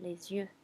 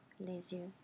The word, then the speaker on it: les yeux: And then the plural is actually way easier, les yeux, les yeux.